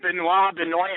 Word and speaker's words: Benoit: It is Benoit, huh? Yeah, he pronounces it Benoit. Jeremy was right. I was like, no, dude, it's got to be Benoit.